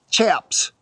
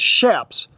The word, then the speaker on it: chaps: and what we call shaps today. Hold up just a minute. This is a pet peeve of mine and most cowboys across the world. It is it is not pronounced chaps. It is chaps.